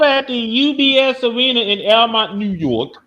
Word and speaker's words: Elmont: Now then, over at the UBS Arena in Elmont, New York. I know they call it Belmont for some odd reason. That city always leave out the B.